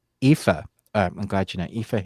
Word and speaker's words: Aoife: It also stars Syrian Hins, and I don't know how to pronounce her name. I think it's Aoife. Aoife.